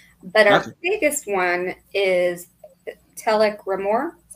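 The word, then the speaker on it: Telek R'Mor: two guest stars but our biggest one is telk rore is how you say his name that's right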